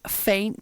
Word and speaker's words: F3INT: I caught up with a band called faint spelled f-3 int so the E becomes a three very unique so uh